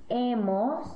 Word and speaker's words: hemos: Nosotros hemos, repite. Hemos. Y han. Han. Muy bien. Se nota que hay un H en cada forma, has, a, hemos, han, pero no se pronuncia la H, solo los vocales, has, a, hemos, han.